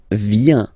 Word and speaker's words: viens: So the first form is je viens, je viens, okay? Remember this I, viens, and then this nasal, final S not pronounced, je viens, tu viens.